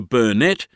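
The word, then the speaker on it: Burnett: But the river at Bundberg, the bunette has only two syllables.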